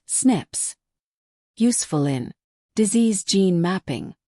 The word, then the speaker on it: SNPs: Pronounced SNIPS.